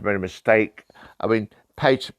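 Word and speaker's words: pater: a mistake i mean peter peter or and how you pronounce it uh latin word for father um you know implying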